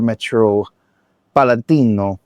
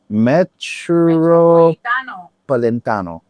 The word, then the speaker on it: Metropolitano: This is Hooligan at the Riyadh Air Metro Palantino. Metro Palantino. How do you say that? Metropolitano.